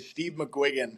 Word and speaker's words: McGuiggan: Steve McGuiggan. That's a tough one. So, okay, is how you pronounce the middle part of that? Yep. Okay.